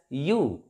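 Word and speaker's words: ewe: a union a u this word e w e this is pronounced as you you like why you and that's why we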